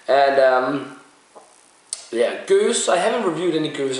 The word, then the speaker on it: Gueuze: at all man it's gonna be a goose or as Americans say guzar I think they call it what we call it goes in Denmark I'm not sure if